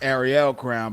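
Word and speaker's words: Arie Crown: go to the Mama Jesus third-rate actors plays at the Airy Crown here in Chicago. Usually pronounced Ariel Crown by the attendees.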